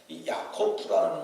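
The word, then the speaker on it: יעקב: 이름을 지었어요 우리 식으로 히브리말 그대로 발음을 하면 야 고픈데 야코프라는 말이 그게 발목을 잡았다 우리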